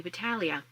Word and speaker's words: Battaglia: And that is Tammy Battalia. And hopefully I'm saying her name right. I've heard that the G is silent.